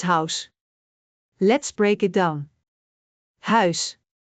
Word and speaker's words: huis: Huis. H ui S. Huis. Try to shape your mouth like you're saying au in English, but stretch the sound differently.